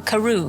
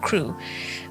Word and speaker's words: Crewe: difference in the name madame pascal pronounced it as if it were karoo instead of crew but that might be